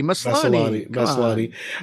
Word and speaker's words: Maslany: Maslany.